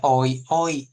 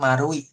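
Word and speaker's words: 丸井: Nah, ini tulisannya oi oi. Tapi kalian jangan bacanya oi-i, tapi bacanya marui karena ini bunder marui gitu seperti itu.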